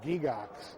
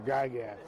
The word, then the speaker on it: Gygax: g a r y g y g ax pronounced in Switzerland gigx G but we've Americanized it to gagat at least my branch of the family has